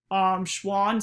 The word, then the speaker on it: Schwann: To me, Schwann sounds like the word swan, and Schwann was a